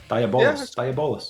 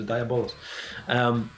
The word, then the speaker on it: Diabolus: How do you pronounce that? Diabolus. Yeah. Diabolus.